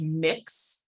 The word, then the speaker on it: Mx: uh and that is pronounced mix like you're mixing a bowl of cookie dough um and just a